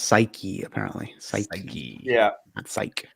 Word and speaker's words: Psyche: they tested it to that point and it's pronounced psyche appar psy psy yeah psyche oh yeah Psy